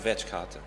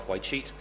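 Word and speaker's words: Wytschaete: Now it's pronounced Vetchkate, but the soldiers used to call it White Sheet, so I'll stick with that.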